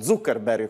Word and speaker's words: Zuckerberg: fondatore di facebook mark zuckerberg anche se verrebbe da chiamarlo zuckerberg con la provincia pronuncia tedesca visto che siamo in ambito germanico che parla proprio un